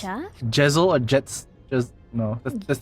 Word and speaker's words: Gesellschaft: pronounce that? Gesellschaft?